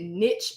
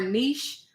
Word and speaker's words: niche: are in the niches which you can pronounce it niche or niche whichever one comes out my mouth just know that's